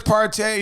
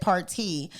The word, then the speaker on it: Partee: eating man that's awesome val parte party honey pronounced desserts party your party is it's from like it's like